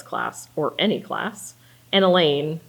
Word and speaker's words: Elaine: or any class, and Elaine, rhymes with pain.